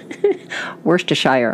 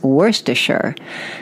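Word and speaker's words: Worcestershire: that three times so worst a Shire okay and I believe that pronunciation came from my time spent in the deep south whereas in New York where we grew up it's worse - sure so worse - or worse - Shire enjoy and you say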